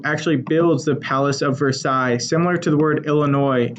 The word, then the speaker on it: Versailles: King Louis will be the one who actually builds the Palace of Versailles, similar to the word Illinois. In Versailles, you don't pronounce the S at the end. Palace of Versailles, that's going to come